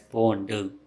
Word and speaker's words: pondu: In spoken Tulu, it's just pronounced as pondu.